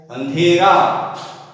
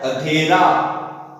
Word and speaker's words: अंधेरा: और यदि इसका शुद्ध रूप देखेंगे तो अंधेरा, अंधेरा, अंधेरा, अंधेरा, और अशुद्ध उच्चारण होगा अधेरा, अंधेरा, अंधेरा और अंधेरा। तो शुद्ध रूप इसका होगा अंधेरा।